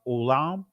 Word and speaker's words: olam: are some of the words that awalam transliterates to again uh in Israeli is pronounced Olam and again I'm not